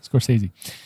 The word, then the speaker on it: Scorsese: That's how you say it. Scorsese.